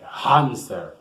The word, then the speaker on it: hamster: Ele se escreve da seguinte forma: H-A-M-S-T-E-R, hamster. Só que em inglês, esse A ele vai ter um som de E, hamster, ok?